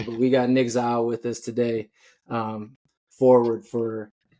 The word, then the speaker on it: Zeil: I heard you say it on the roster sheet, so that's how I knew it because I thought it was Zeal. But we got Nic Zeil with us today, forward for graduate forward for Colorado Christian.